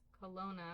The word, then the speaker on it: Kelowna: Yes, Kelowna.